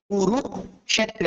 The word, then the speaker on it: কুরুক্ষেত্র: হ্যাঁ, তো আমরা আমরা এটাকে উচ্চারণ করবো সর্বত, কুরুক্ষেত্রে, অর্থাৎ ক কে ভেঙে মূর্ধন্য শকে আলাদা উচ্চারণ করতে হবে, থেকে কুরুক্ষেত্র।